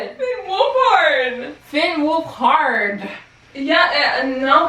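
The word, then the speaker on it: Finn Wolfhard: fin wolf hard how do you say it Finn wolf hard Finn wolf hard yeah no cuz I I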